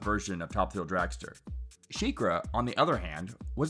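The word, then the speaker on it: SheiKra: number one spot is Shakira at Busch Gardens Tampa I think you mean shikra oh yeah that's how you say it anyway it could be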